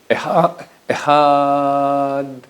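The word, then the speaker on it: אחד: Il faut dire le est très court. Echad. Et pas comme les gens qui font Echad, 2. Il n'y a pas 2. C'est Echad en hébreu, Echad. Echad, et pas Echad 2, et pas Echad 2, Echad. Il faut prononcer le D.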